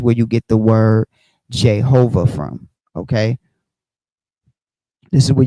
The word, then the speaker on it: Jehovah: So it says in Latin script the Hebrew Y became I or J and W became V or U giving aha and eventually in the English form uh ehuva excuse me. Um and eventually in the English form Jehovah.